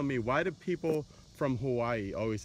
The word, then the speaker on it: Hawaii: why do people from Hawaii always say Hawaii they like break it up it's because of the vowels oh okay so our vowels are all pronounced differently and they're all pronounced separately oh okay all right so